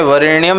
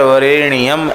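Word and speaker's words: वरेण्यम्: और जप के समय वरेण्यम न बोलकर वरेण्यम ऐसा बोलें।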